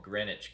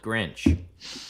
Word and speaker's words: Greenwich: My son Jesse was brought up in a town called Greenwich, Connecticut, and he couldn't get the 2 syllables. He called it Grinch.